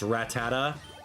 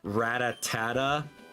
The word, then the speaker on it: Rattata: have played Pokemon to teach you that it's Rattata and not Ratata or Ratata or Ratat. Dude, Pokemon pronunciations as a kid, man.